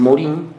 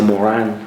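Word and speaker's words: Morin: de un filósofo que le dicen Morín bueno se dice Morán según me han dicho los que saben que hablan sobre la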